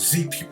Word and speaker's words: Xia: which ultimately sent them out of Africa the Z Nobles established the first dynasty known as the Z Dynasty interestingly although it's spelled xia the actual pronunciation is z so